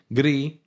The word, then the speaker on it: Gris: It's pronounced Gris. Gris. It's a Spanish word.